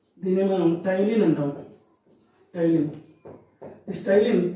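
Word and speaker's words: ptyalin: This Tylin, P silent, in this P is silent.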